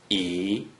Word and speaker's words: 一: According to the rule that you just learned, a single digit 1 without any other digits in the second green circle is pronounced E, according to the rules that you learned in the last two lessons.